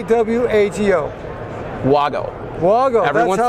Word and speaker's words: WAGO: Say W-A-G-O.